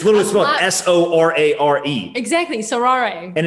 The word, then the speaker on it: Sorare: been through things sarah i think that's how you pronounce called so rare wow wow nicholas did you hear that nicholas did you hear that sorari sounds much more exotic no so rare no it's so rare right it's literally s-o-r-a-r-e